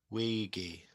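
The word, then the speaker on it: Weegie: So wiggy wiggy broomie wiggy wiggy like wiggy like a wig like wiggy.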